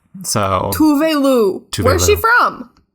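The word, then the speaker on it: Tove Lo: Tuvelu is how you're supposed to pronounce it.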